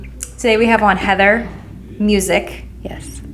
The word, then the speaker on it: Musick: Today we have on Heather Musick. Yes. Not Musick, that I was incorrectly pronouncing prior to this podcast.